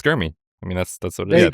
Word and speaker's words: Germie: Well, it's Germie.